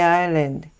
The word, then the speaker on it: island: The island, island S가 묵음이죠.